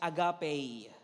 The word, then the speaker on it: agape: so yung agape naman na pagka binasa pagka pronounce mo siya is agape it is used to